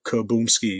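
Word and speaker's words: Kaboomski: a little smoother um yeah still has three syllables let me see K Kaboom yeah Kaboom ski yes still three syllables but fuck it I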